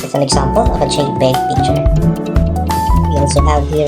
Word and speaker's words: JPEG: First is the JPG or pronounced as JPEG and is short for JPEG or joint photographic experts group.